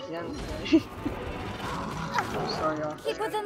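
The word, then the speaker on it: Yanfei: I always say Yonfei, but apparently it's more like Yenfei. I'm sorry, Yonfei. Keep within the law. Let the show begin. It's Yenfei.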